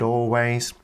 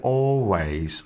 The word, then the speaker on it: always: well so I he always and with her accent you can't really hear the l sound so it sounds like always always not always but